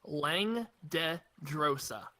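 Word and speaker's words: Langdedrosa: Okay, real quick to help you guys pronounce that, it's Lang de Drosa. Lang Dang, de Drosa.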